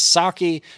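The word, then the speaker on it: Psaki: wild-eyed red-headed gin pesky i think her name is sake but it's spelt with a p so i'm going to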